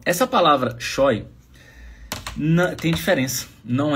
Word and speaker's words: scheu: Tá a pronúncia é choy.